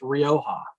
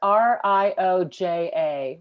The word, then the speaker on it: Rioja: spain would you repeat that please yeah it's pronounced rioja um and they say it right in those gold letters on the on the label so r r i o j a rioja rioja yeah and you know as kathleen mentioned